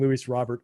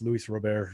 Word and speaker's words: Luis Robert: It's like everybody saying Luis Robert when it's Luis Robert, regardless of what the announcers or anyone else wants to say about it.